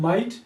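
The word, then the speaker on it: might: इसी तरह माइट माइट में अगर आप देखते हैं आई जी एच ये तीन ऐसे लेटर्स हैं कि ये मिला के आपको सिंगल साउंड देते हैं तो इट्स मीन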